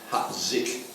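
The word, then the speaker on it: Hat Dich: shallow ridgeline into the Hat Zik, spelled H-A-T-D-I-C-H, pronounced Hat Zik. And Hat Zik was an area for logistics support and resupply, hospitals, all that sort of stuff.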